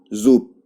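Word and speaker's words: зуб: लेकिन जब हम प्रोनाउंस करेंगे इसको तो हम कैसे पढ़ेंगे, गोद, गोद। इसी तरह से ये है जूब, जूब। लेकिन जब प्रोनाउंस करेंगे तो क्या पढ़ेंगे, जूप, जूप।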